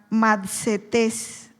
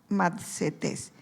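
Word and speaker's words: μαθητής: su original viene de una palabra que se pronuncia matetes matetes y Qué quiere decir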